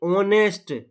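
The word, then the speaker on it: honest: शब्द मत देखिए। आवाज देखिए। ऑनेस्ट ओ आ रहा है ना? ओ ये स्वर का साउंड दे रहा है।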